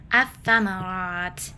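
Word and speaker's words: الثمرات: Jadi dibaca atsamarat lamnya tidak terdengar atau tidak dibaca.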